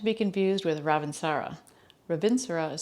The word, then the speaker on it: Ravintsara: we're going to be using an oil called revincera not to be confused with ravin sara ravinsura is spelled r-a-v-i-n-t-s-a-r-a vincero is a wonderful pungent oil